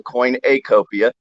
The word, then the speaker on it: Coinacopia: The name of it is Coinacopia, spelled with an A in the middle, Coinacopia.